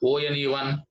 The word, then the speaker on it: one: Here, look at the word ONE1. How do you pronounce it? Just like you pronounce the word WON. WON. So from this letter O, this vowel letter O, we are getting the sound of W.